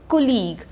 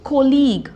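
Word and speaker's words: colleague: हम क्या बोलते हैं कॉलीग नाउ इस वर्ड में आप देखोगे जी यू ई है एंड में जी यू ई तो इसकी प्रोनाउंस एशन इज कॉलीग हम जी पे ही रुक गए हैं हमने यू ई क्या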